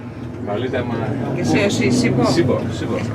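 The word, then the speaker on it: Sipho: Sibo. It's H, but you don't pronounce Okay. Σίμπο. Sibo. Not with B, with H. S-I-P-H-O.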